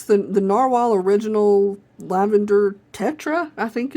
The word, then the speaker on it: Narwhal: uh and this is the U narwhal or navalur I think they prefer that you pronounce it narwhal if I'm correct um and on the band